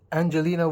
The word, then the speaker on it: Angelina: Uh, I got tagged by Angelina. I think I It's Angelina with a hard G.